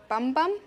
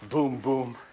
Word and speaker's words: Bum Bum: Your name is Dr. Bum Bum? Actually, it's pronounced Boom Boom.